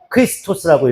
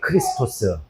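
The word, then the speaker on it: Χριστός: 헬라어로 얘기하면 어떻게 얘기하냐면 크리스토스라고 읽어요. 크리스토스. 크리스토스라고 읽어요.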